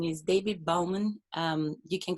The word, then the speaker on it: Baughman: His name is David Baughman. You can correct me if I pronounce it wrong. Very sorry for my accent. Baughman, B-O-F-N, Baughman.